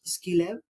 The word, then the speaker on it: SQI Lab: structured quantitative inquiry lab sqi Lab it pronounce Ski Lab uh basically they implement